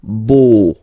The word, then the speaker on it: beau: So remember this a, u combination of vowels only give you the sound o, beau, okay?